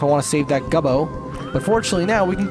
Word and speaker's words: Gobbo: And I know they're Gobbos. It's Gubbo. It just sounds funny.